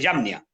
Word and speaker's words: Jamnia: que se llama el Concilio de Yamnia, se escribe Jamnia.